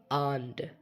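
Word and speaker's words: and: এখানে রিড মানে হচ্ছে পড়া, অ্যান্ড মানে হচ্ছে এবং বা ও। এটা আমরা দুইভাবে উচ্চারণ করতে পারি, অ্যান্ড অথবা আন্ড।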